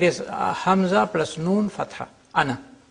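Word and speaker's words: أنا: Hamza plus Noon Fatha, ana, not ana. So it has two pronunciations. One in pausal form, where alif is pronounced, ana.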